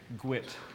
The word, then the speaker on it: GWT: google web toolkit uh called gwt or how the engineers like to say it gwit we like to pronounce everything so today i will refer to gwt as gwit these slides are based